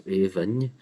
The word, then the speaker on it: Aoibhinn: So Aoibhinn. This second one could be, with modern pronunciation or orthography, this is the one that could be pronounced as Aoibhín.